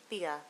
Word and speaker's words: Thea: Sorry if I mispronounced your name. Thea? Is it? Thea.